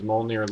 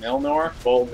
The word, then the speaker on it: Mjolnir: Shows locations Thor can use his Mjolnir Leap ability.